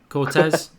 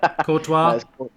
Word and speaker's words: Courtois: No. Cortez? Courtois? Cortez. Courtois? Yeah, it's Courtois.